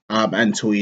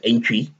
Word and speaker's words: Antwi: Antwi is, of course, a Ghanaian name. It's actually pronounced Aintree. But yeah, I've lived in UK for 15 years plus now, so it's Antwi. Yes.